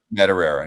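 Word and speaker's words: Madureira: Isn't that how you pronounce it? Joe Madera. Madera.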